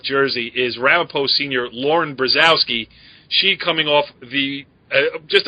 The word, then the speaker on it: Brzozowski: like, as we welcome in Ramapo senior Lauren Brzozowski. I even know how to say her name, right, Lauren? Yeah, no, it's Lauren Brzozowski.